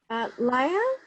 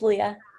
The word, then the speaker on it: Leah: Laya, am I pronouncing your name right? It's Leah.